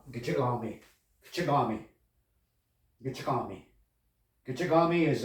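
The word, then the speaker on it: Gichigami: It's pronounced Gitchigami, Gitchigami, Gitchigami, Gitchigami.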